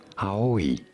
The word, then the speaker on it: Ai: How do you say it in Japanese? It is pronounced as ai.